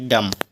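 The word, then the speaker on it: dumb: पढ़ थम अगला है डी यू एम बी एम के बाद बी आया बी सा इसको पढ़ेंगे डम चलिए इसका दूसरा नियम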